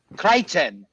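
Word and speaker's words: Crichton: way they put but the way the aliens pronounce it Creighton where they they're always talking about him as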